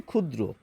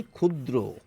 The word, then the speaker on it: ক্ষুদ্র: আমরা বলি ক্ষুদ্র। এভাবে বলি। তাইতো? অর্থাৎ এই যে যুক্ত বর্ণটি এর উচ্চারণ খ হয়ে যায় যদি শব্দের শুরুতে থাকে।